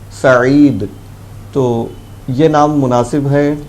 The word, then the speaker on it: سعید: سعید جو بتایا آپ نے، سعید ہے وہ تلفظ، سعید، تو یہ نام مناسب ہے، ٹھیک ہے، یہ